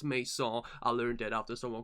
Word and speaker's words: Maison: You know, the N is silent here, you know, so it's not Mason, it's Maison.